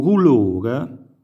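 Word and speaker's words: dulore: Il dolore o rulore, scritto in questo caso con la R, ma si può e si deve scrivere con la D, ma si pronuncia R per effetto di rotacismo che abbiamo affrontato nella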